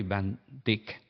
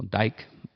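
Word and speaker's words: van Dyke: por el escritor Henry van Dick está ahí o dike como lo que quieran pronunciar un americano de descendencia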